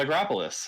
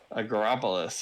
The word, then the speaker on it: Agropolis: shifting it uh is called acropolis which you got me to pronounce twice now um agropolis uh so uh count